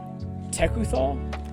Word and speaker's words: Tekuthal: Tekuthal, that's how you pronounce it, the Inquiry Dominus.